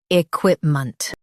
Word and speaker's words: equipment: e quip ment, equipment Stress quip and soften ment.